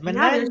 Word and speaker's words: Menendez: Menendez. Yeah, there's no L in that.